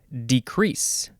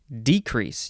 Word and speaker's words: decrease: in this episode is decrease or decrease you can emphasize the first syllable or the second syllable d e c r